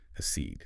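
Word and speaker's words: accede: So that second syllable stress, that seed, that sounds paramount. It really is. If you miss that emphasis, you sort of lose the word's weight. The flow is off. You have to hit it. A seed.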